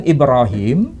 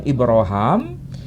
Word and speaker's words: Ibrahim: Mau dilafalkan Ibrahim, mau dilafalkan Ibrahim, itu personnya satu. Pelafalan saja yang berbeda. Bahasanya Arab, tapi pelafalannya, lahjahnya berbeda. Nah, sementara kalau versi bahasa Ibrani tidak dilafalkan Ibrahim, tidak dilafalkan Ibrahim, tapi dilafalkan Abraham.